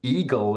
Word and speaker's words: IGEL: Germany and elel or Eagle as it's pronounced in Germany actually means Hedgehog wow